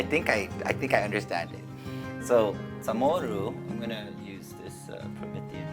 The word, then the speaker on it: CHamoru: One is because there is no C in Chamorro language in the pronunciation, so there's a CH.